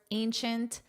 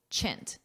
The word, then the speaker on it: ancient: Of course, ancient. Notice this pronunciation. Ancient. Chint. This last part here is pronounced chint.